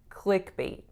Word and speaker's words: clickbait: words click and bate the stress is on which part clickbait it's on the first part and the vowel is